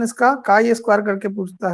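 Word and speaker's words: chi-square: Pronunciation ची स्क्वायर नहीं, pronunciation इसका दूसरा होगा, ठीक है। प्रोनाउंसिएशन इसका काई स्क्वायर करके पूछता है, ची चूंकि लिखने में लगता है।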